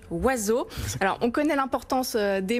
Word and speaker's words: Oisx: Alors, je précise que ça s'écrit avec les lettres O-I-S-X, mais que ça se prononce donc Oiseau.